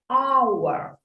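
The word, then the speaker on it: hour: і останнє I need our Мені потрібна година aur h У нас не вимовляється у цьому слові вона німа тому перший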